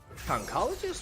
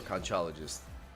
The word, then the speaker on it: Conchologist: Concologist or Conchologist? I think Concologist is the American pronunciation, and Conchologist is the British pronunciation.